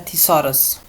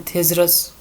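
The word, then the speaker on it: thesaurus: उसके बाद spelling check के बाद हमारे पास आता है थिसॉरस। जैसे आधे लोग, बाज़ लोग ऐसे भी पढ़ते हैं थिसरस, हम थिसॉरस पढ़ते हैं।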